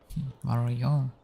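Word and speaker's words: Val Royeaux: This Denerim is a fine city, but I miss my Varroyo. She's quite beautiful this time of year. Vario, even. That's how it's pronounced.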